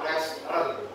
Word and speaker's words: Restaurant: cara penyebutannya restaurant. Restaurant. Dua suku Iya, kata, langsung aja. dua syllable ya. Restaurant. Itu kita melihatnya seperti ada tiga suku kata, tetapi itu dua suku kata, two syllable.